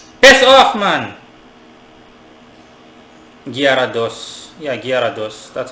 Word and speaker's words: Gyarados: Yeah, Gyarados. That's how it's pronounced, right?